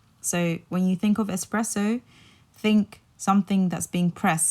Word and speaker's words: espresso: when you think of espresso think something that's being pressed so it's it literally means oppressed so when you're thinking about espresso like take out the X and just remember it's pressed so you put the